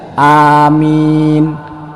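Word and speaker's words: آمين: kali tiga kaliak apa-apa yang penting bacanya benar Amin huruf alifnya panjang huruf mimnya panjang jadi kalau ada orang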